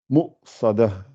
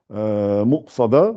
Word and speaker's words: مؤصدة: Et quand vous la lisez, c'est obligé de la prononcer. Et là, vous dites Mu'sada. Mu'sada, si vous vous rappelez